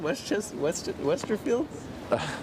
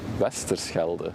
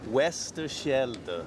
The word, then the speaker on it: Westerschelde: Westerfield? How do I say it? What? The YouTube channel name? Westerschelde. Westerschelde.